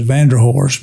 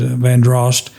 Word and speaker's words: Vanderhorst: The Vanderhorst, some pronounce locally in Charleston as Vanderhorst, but the correct pronunciation is Vanderhorst, and a prior former governor of the state.